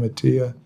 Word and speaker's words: Attia: Yeah, a doctor that many of us respect, Peter Attia, or Attia, I believe he pronounced his name Attia, just wrote a book on this, on longevity and markers and things you can do about it.